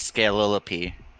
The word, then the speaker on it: Scalilope: So the pink one, Patrick, I don't know if you looked at it, the way you pronounce her name is Scalilope.